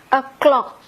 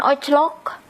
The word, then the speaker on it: o'clock: Inggrisnya titik titik titik o'clock Hai AGH Hai walaupun ini tulisannya Oh kita bacanya Oh jadi bukan oclock o'clock tapi clock Hai reg Hai nulisnya